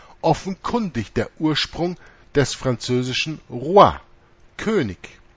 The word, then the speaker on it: roi: Ohne den Artikel ist Roe, Hirte, offenkundig der Ursprung des französischen Roi, König. R-O-I schreibt man das, Roi.